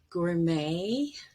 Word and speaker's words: gourmet: t gets pronounced but a t at the very end is usually silent and we have borrowed the word with sort of french pronunciation with the stress at the end for example ballet chalet gourmet coup d'etat debut and rapport and this is different